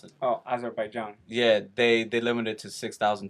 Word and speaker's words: Azerbaijan: it did piss me off because during last weekend, Azerbaijan, whatever, I don't know how to pronounce it. Oh, Azerbaijan.